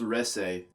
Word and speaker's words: Reze: It's actually pronounced Reze. Okay. Yeah. Stay right there so I can beat your ass. But what did I do? Reze is a very interesting character who is a little bit of everything.